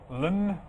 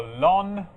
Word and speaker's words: ln: the most famous is Ln you may hear it pronounced as Lynn or lon if you say it